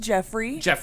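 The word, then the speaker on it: Geoffrey: Two is pronounced Jeffrey. 3 is pronounced Joffrey.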